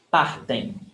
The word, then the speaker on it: partem: When you have em, am at the end of a word. Aim, aim. The M is not pronounced. Aim. It's very nasal. Aim. Partem. And the stressed syllable is before the last.